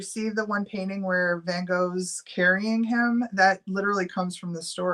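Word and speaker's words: Van Gogh: his name right um van go but it's like it's it's dutch so it's like Vango um he says it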